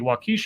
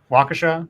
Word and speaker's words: Waukesha: verbal warning by a walkie Sheriff for not following the Move Over Law I think it's pronounced 'swaj uh Waukesha ok I my father